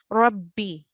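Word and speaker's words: رَبِّ: As you can hear with my pronunciation, I'm doubling the letter ba, Rabbi.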